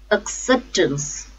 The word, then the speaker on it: acceptance: syllable AB absolute absolute acceptance acceptance the stress is on second syllable self-acceptance a safe those